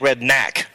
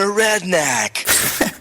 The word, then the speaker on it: redneck: Uh some younger dude, but he pronounces redneck. Red Knack. He's like, uh next time on Are You Faster Than a Redneck? I'm like, what? Why can't you say neck? It's neck. Redneck.